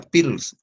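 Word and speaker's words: Perls: Pearls es P-A-R-L-S. Pearls se escribe. Se pronuncia Pearls.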